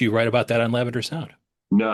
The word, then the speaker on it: Lavender Sound: This is Lavender Sound. Let me spell that out. L A V E N D E R.